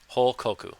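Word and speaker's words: 報告: Hokoku, report.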